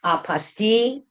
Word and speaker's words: apostille: But Bill, the two most recent common the two most common ways to pronounce this um are apaste and apastile, which apastil seems to be the official pronunciation.